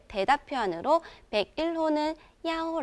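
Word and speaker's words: 幺: 때 대답 표현으로 101호는 야오 링 야오 하라고 하고요 33호는 산링 산 하라고 합니다 이때 주의하실 부분은 중국어로 이렇게 번호를 읽을 때는 대부분 숫자 하나 하나씩 읽으면 숫자 1은 이보다는 야라는 발음을 많이 사용합니다 방을 나태는 빵제 몇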